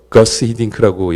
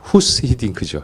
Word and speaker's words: 후스 히딩크: 예전에 우리 왜 구스 히딩크 감독도 근데 거스 히딩크라고 영어식으로 발음했는데 사실 후스 히딩크죠.